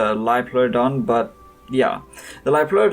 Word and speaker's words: Liopleurodon: like Laura Dunn or Liopleurodon I'm sure it's pronounced live Lloyd on but yeah the live